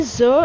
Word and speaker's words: Caesar: No, it will be zer and zerina because the pronunciation of c is omitted.